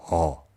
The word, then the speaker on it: ㅓ: All has the sound of when you were trying to answer a question and go, That sound is how to pronounce it. Just adjust the length into one syllable, and there we go.